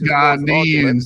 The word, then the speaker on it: Ghanaian: They weren't called Ghian. You know what I mean by Ghanaian? You're not even educated. You're using the wrong. But hear what though. Here what orthodox. Ghanaian. That's how you say it. The proper way of saying Ghanaian take on orthodox.